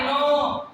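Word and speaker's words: know: हाँ भाई सब आई नो। आई नो। आई नो मतलब के एन ओ डब्ल्यू। ये साइलेंट है।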